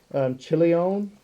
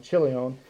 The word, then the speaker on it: Chilion: So Chilion, kind of sounds like chili, and Malon.